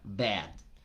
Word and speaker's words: bad: Una palabra muy común en el inglés, la palabra malo, es una combinación entre la A y la E. Entonces tengo que poner mi boca como para decir A, pero en vez de decir A, digo E. Y suena bad.